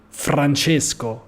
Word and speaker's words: Francesco: We say like Roma, Francesco. This is how I pronounce my name. Okay, not Francesco, but Francesco, Roma, R. We have this strange R sound.